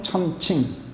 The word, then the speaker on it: 천칭: 보통 천평이라고들 말하는데 그렇게 발음해도 상관없어요. 이게 칭자예요. 저울 칭자. 하늘 천자하고 같이 써요. 천평, 천칭. 원래는 천칭이라고 읽어야 맞아요.